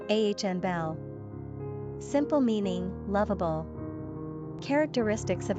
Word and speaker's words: Annabel: Pronunciation, Anabel.